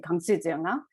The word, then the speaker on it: Kanchenjunga: And the mountain, the image that you're looking at is Mount Kanchenjunga. In my language, we would pronounce it Kangsujeonga.